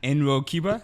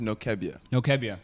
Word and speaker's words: Nwokeabia: last name so wrong enba is that how you say it honestly a for effort it was there no my last name is noia no keia okay it sounds much